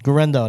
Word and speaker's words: Guerendo: Guerendo, that's how you say it.